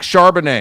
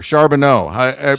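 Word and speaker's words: Charbonnet: Uh, so Zach Charbanet or Charbano, I'm not sure how he pronounces it. Charbanet.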